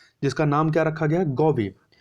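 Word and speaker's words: GAVI: नाम क्या रखा गया गब गौब स्पेलिंग है जी एवी आई गौब तो याद रखिए पूछा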